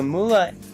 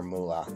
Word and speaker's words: Mula: So Mula, M-U-L-A, is how you would spell it.